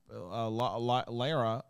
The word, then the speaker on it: Lara: It's spelled that way, it should be Lara, right? Yes. It should be Lara. Like GMA Lara.